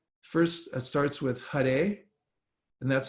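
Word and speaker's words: Hare: and 32 syllables and it's first starts with huh day and that's how you pronounce that H a r e and it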